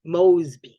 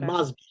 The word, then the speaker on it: Mosby: spelled several different ways m-o-s-b-y was the name m-o-s-e-b-y because it was pronounced with the long o must be okay so